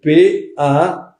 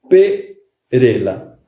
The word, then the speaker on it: Parrella: Parrella se escribe P-A-R-R-E-L-L-A, Parrella. ¿Por qué falo eso? Porque siempre aparece Perela.